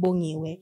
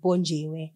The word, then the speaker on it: Bongiwe: of my Hindu teachers couldn't pronounce my actual name, Bongiwe. She pronounced it Bonjiwe.